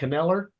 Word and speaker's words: Kneller: Kneller?